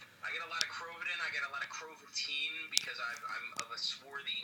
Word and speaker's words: Krovatin: It's Krovatin, not Krovatin. It rhymes with Satan.